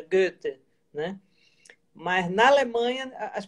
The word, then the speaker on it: Goethe: Porque se você diz Rilke, tudo bem, aqui todo mundo conhece Goethe, embora seja Goethe, né?